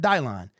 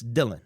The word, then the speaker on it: Dylan: Making the Band so his name is Dylan Drummond Dylan Drummond it's not Dylon it's Dylan okay but kudos to